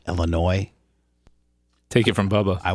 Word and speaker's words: Illinois: Does she not know that it's a French word and the S is silent and let's pronounced Illinois?